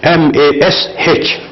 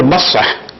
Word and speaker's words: Masah: written Masah in English, M-A-S-H. So he was saying Mash. I said, Astaghfirullah. You can't even pronounce the word Masah. Masah with H separate, and you're saying mash, and you're arguing to prove your point.